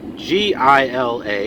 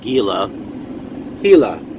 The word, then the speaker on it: Gila Bend: here in gila bend which is spelled g-i-l-a it's not gila gila bend this guy's backing up